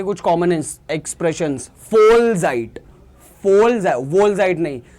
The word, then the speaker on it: Vollzeit: weiter arbeiten के कुछ common expressions, Vollzeit, Vollzeit नहीं, ये जो V है, V is V and it is pronounced as F, ठीक है? Vollzeit means full time.